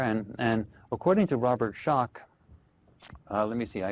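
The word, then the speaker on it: Schoch: and uh it's s o c but it's pronounced shock and he's written the book forgotten civilization where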